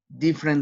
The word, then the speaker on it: different: Different. Which letter is not pronounced? Excellent again. Letter E.